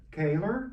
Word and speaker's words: Koehler: Hey, I'm Caylor.